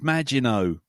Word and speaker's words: Maginot: And yes, and how it's Maginot, as in the Maginot Line.